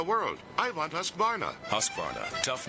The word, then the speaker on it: Husqvarna: now how to say husqvarna you say husk like corn and barn like varnish without the ish and nah